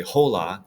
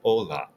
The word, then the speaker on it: hola: see you tomorrow now remember the H here is silent we don't say the H so it's not hasto it's aego like an Ola We Don't say hola we say Ola aam Manana okay but